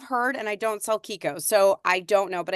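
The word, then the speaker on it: Chicco: car seat like a Kiko it's pronounced Kiko and not Chico so for those of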